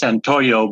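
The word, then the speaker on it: Santollo: Judge, I'm back from breakout room on Jesus, and I believe it's pronounced Santoyo, but it's T-O-L-L-O.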